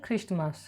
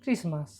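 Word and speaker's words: Christmas: এক্স মাস মানে তোমার হচ্ছে খ্রিস্টমাস। ওকে, খ্রিস্টমাস নয়, ক্রিসমাস।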